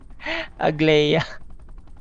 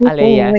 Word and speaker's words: Agleya: Why not go back to Yuna Agleya? Sorry sorry Aleya I forgot I forgot. G is uh G is silent guys. It's Alea.